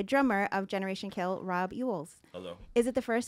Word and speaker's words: Youells: It's the first time it's been said correctly right now. Okay. In this hour since I got here. That's something. How I just do you know spell that it? Youells? Y-O-U-E-L-L-S. Like Yule Log?